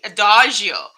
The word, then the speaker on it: adagio: Okay, so which is how you say it, by the way, adagio. I don't speak Italian, but it is Italian word.